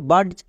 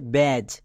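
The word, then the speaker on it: badge: বয়ে জফল আকা ব্যা এবার কোন ওয়ার্ডের শেষে আমরা যদি ডি জি ই দেখতে পাই তাহলে তার জন্য বর্গীয় জয় ইউজ করি দেখো এখানে ডি জি ই আছে তাহলে এর জন্য বর্গীয় জয় হবে তাহলে কি দাঁড়াবে ব্যাজ এটা হবে সঠিক উচ্চারণ এবং আমরা জানি ডি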